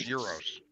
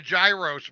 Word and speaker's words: gyros: I call it a Gyros one time and this Greek guy that owned the restaurant looked at me and he said sir it's pronounced euros why the g is silent yeah so I got